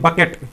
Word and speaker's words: bouquet: हैं, प्रेजेंट में, तो उसको क्या कहते हैं, बकेट। क्या होता है, बकेट होता है। इसकी स्पेलिंग टेस्ट में ये बार बार पूछा गया